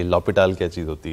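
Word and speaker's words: L'Hôpital: थोड़ी सी हंसी आई है समझे की ये लोपिटल क्या चीज होती है लेकिन इसमें ये की इसकी अगर एक्चुअली प्रॉपर स्पेलिंग अगर आप देखें आ तो ये कभी-कभी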